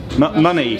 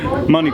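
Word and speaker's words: Mannez: Is it Manet or Manet Quarry? Anyone? Money. Money Quarry.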